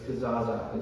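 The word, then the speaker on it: kezazah: making this word out it sounds like kazoo but it's kazzaza if you want to write it up in your notes if you're the type person that wants to spell it right it's k e z a z a h k e z a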